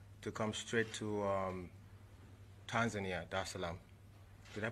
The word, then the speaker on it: Dar es Salaam: of the 7th, to come straight to Tanzania, Dar es Salaam. Did I pronounce that right? Dar es Salaam.